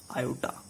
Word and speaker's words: iota: This is नॉट I, this is आयोटा, IOTA, आयोटा। इट इज प्रोनाउंसिएटेड एज आयोटा whose square is -1।